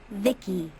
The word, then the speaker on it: VI: transistors by the way I'm VI I pronounced Vicki my Creator was BB